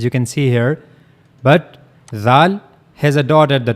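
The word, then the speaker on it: ذ: Zal just use your tip of your tongue and then connect it to the edges of the two top front teeth. And that's how you can easily pronounce zal. And also remember one thing, the sound of zal will be soft.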